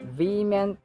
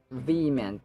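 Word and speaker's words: vehement: But in the case of V meant, letter H is really not pronounced.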